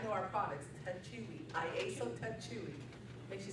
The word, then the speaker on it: Techui: IASO Techui, nobody knew how to say it, it is Techui.